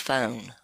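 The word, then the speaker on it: φωνή: But it literally is, it's G 5456, and it's pronounced phone in Greek.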